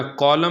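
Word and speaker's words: column: इसी तरह कॉलम में एम के बाद एन है तो एन प्रोनाउंस नहीं किया जाएगा।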